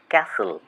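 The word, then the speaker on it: castle: উচ্চারণ হবে কম এল এম B lamp C এ এস টি এল ই ক্যাসল এখানে টি silent আরো কিছু উদাহরণ এখানে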